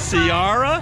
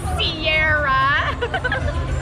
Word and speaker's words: Ciara: And of course, we had a lot of Ciara? Fun. Say her name. It's like the mountains.